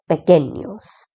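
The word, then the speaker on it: pequeños: By the way this qu u e is pronounced as k and not qu and this n with the curly line on top is pronounced as near. So it is pecenius.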